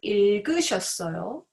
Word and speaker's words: 읽으셨어요: She read 읽으셨어요 with the sound of 리을 As you know, the 받침 has two consonants.